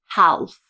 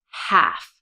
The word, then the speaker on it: half: And notice on half that the L is silent. It's not half. Okay. It's half.